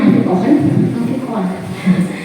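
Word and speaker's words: Alfie Kohn: Menurut Alfikon, bacanya Alfikon, Alfikon ini menurut pengamatannya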